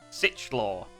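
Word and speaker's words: Sichlor: scythers is different though it's sich law search law yeah s-i-c-h-l-o-r cool i think that's how you say it anyway might be a hard ch sound sickle either sickle yeah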